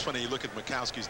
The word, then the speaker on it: Majkowski: you look at Ma makowski's name everybody wants to call him maikowski but the Jay is silent and even when we